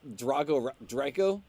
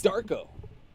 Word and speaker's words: Darko: I don't think it's Draco because that's like an Americanized version of the name. I'd say it's Darko. It's Darko.